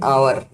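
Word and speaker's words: hour: एन आवर, इसमें हम देखते हैं कि आवर एच वह अंग्रेजी का कॉन्सोनेंट है, लेकिन इसका उच्चारण हिंदी के आ वॉवेल से शुरू हो रहा है, इसलिए इससे पहले एन का प्रयोग किया जाता है।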